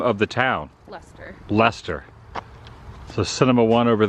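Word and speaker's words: Leicester: cash only sign there so how do you pronounce the name of the town Lester Lester so Cinema one over there Cinema 2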